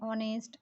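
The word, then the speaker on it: honest: एक दो वर्ड है ऑनेस्ट, आवर, यहाँ पे एच का उच्चारण वावल टाइप से आ रहा है, तो इसीलिए यहाँ पे इसके पहले यूज़ हो जाएगा एन।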